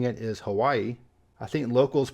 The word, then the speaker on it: Hawaii: opposed to Hawaii and in the actual Hawaiian language I believe was pronounced Hawaii with a W having a v sound and the last state